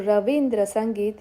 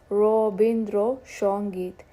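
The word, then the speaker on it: Rabindra Sangeet: And Bengali has a way of transforming the Sanskrit words. The o, bo, sho sounds are quite a mark. Anand becomes Anand. Van becomes Bon. Shravan becomes Shravan. And Rasagulla is Roshagulla. So Ravindra Sangeet is Robindro Shongeet.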